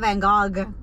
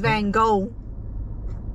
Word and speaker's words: Van Gogh: was his name because it's not van gaal it's van gogh you've been saying that